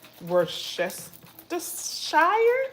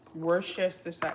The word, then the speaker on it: Worcestershire: Worcestershire sauce. I think that's how you say it. Worcestershire.